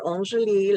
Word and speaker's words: Angélie: I'm supposed to say it like the French, right? Dr. Angélie Laforêt. We were joking a little bit because she doesn't say it that way, but I do because I lived in France.